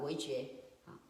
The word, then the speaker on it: Weijue: Maybe I was, I was pronouncing yesterday, but Weijue.